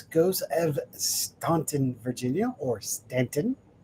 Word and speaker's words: Staunton: And to GOS, Ghost of Staunton, Virginia, or Stanton. When you read it, it says Staunton, but we pronounce it Stanton.